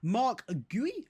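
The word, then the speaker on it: Guéhi: It is going to be Mark Gooey, I believe, is how you say that.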